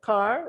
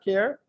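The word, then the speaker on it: Ker: Sir, I think it's pronounced as car.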